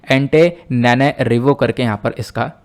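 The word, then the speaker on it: Antananarivo: ठीक है, एक बार और देख लेते हैं, एंटेनारिवो करके यहाँ पर इसका प्रोनाउंसिएशन आप कर सकते हो।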